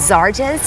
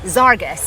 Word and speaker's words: Zarus: So, the name of this company is Zares. Yes. Zarus. Zarus with a hard G. Okay. So, I said Zares. It's Zarus, right?